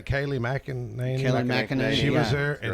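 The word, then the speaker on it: Kayleigh McEnany: Kaylee McEnany.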